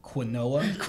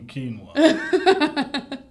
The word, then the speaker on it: quinoa: of course read it off the menu and pronounced it quinoa and the waiter was so smug he was like uh I believe you mean quinoa it's like dude you work at BJ's Brewhouse